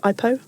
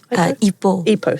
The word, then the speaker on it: Ipoh: Ipoh? Ipoh, sorry.